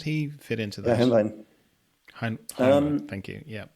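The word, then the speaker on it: Helnwein: um Gottfried Heinwell, or I'm pronouncing his name wrong probably, but you know him. How did he fit into Yeah, that? Hemlein.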